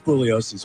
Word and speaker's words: Bugliosi: it's really it's it's his last name is spelled like there's a g like it's bugliosi although he always uh kept the G silent so anyhow thanks so